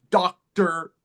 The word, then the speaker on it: doctor: For example, doctor, teacher. Mhm. The ER, the E makes no sound. The O makes no sound. It's the R.